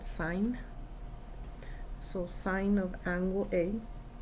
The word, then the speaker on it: sin: use s I n it's not sin you pronounce it sine so sine of angle